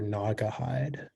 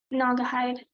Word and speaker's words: Naugahyde: there any alternate pronunciations it's just like it can be naugahyde or nagahide um they have the kind of speech please it's a noun naugahyde n a u g